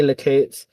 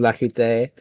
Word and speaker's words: Lakoots: I say Lakoots. Technically, the way you say it is Lakute. The S is silent and the E doesn't make that noise.